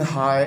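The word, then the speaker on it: high: फिर है जी, the birds are flying हाई इन द स्काई। तो हाई में देखें एच साइलेंट है।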